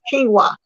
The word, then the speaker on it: quinoa: went and got some quinoa. I call it quinoa, but some people call it quino, Quinoa. I call it quinoa, but it's pronounced quinoa, something like that.